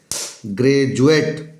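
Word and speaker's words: graduate: आर आया हुआ है सोल्जर सैनिक सोल्जर सैनिक ग्रेजुएट जी आर ए डी यू ए टी अब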